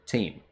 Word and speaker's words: Tam: And Rand has this sword that he got from his father, Tame Althor. Or Tam, if you want to pronounce it that way.